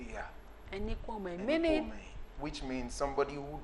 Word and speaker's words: Enikuemehin: But if you are to pronounce it like the tonation of a Yoruba man, you will use O instead of the E. The last E. Say, yeah. Enikuemehin.